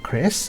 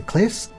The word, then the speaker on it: Cless: Before we continue, there is some debate on how we pronounce the main character’s name with some preferring ‘Cress’ and others preferring ‘Cless’ as r sounds in Japanese can substitute for l sounds.